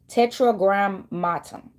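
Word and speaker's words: tetragrammaton: It's called tetra matum. This is it's spelled t e t r a g r a m a t o n.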